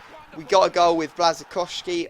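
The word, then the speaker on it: Błaszczykowski: got a goal with blazak kovski or blazak kovski I think is how the pronounce or the uh commentators say it in this game so blazak kovski is what I really should be saying um we end up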